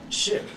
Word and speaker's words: ship: if you were pronouncing SHP how would you pronounce that how would you say ship ship yeah that's it just say SHP take the